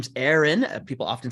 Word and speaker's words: Aren: everybody my name is Aaron people often say are in because it's uh it happens all the time my name is hard to pronounce don't worry about it